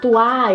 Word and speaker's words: toi: original de séculos atrás as palavras terminadas com Oi não eram pronunciadas como o a eram pronunciadas como Oi então você não falava mua tua você falava moi Toi etc e tal mas a